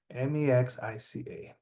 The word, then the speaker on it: Mexica: Mexica, Mexica. Okay, so the X is not pronounced like the modern day J. It's not the same thing. The X is pronounced as SH, and it's intentionally made that way.